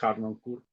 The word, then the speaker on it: Harnoncourt: del orden y si el apellido de hecho es afrancesado y si se pronunciará digamos m estilo francés sería una h un poquito más muda que la que se utiliza en alemania de löw que sería un poco la cuestión sin embargo pues bien la pronunciación usuales harnoncourt llamas este hermaniza da